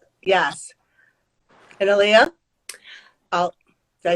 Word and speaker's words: Aliya: And Aliya?